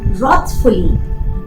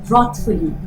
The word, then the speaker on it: wrathfully: Rahul's elder brother was wrathfully looking for those who had thrashed Rahul mercilessly. Wrathfully. The W is silent and the A makes an aw sound.